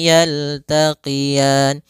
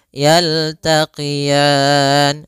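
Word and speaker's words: يلتقيان: marjal bahroini marjal bahraini yaltaqian kemudian pfal R ini di sini ada bacaan Lin yaitu adanya fathah bertemu dengan Ya Sukun lembut dalam melafalannya yaltaqian sama sebagaimana kita membaca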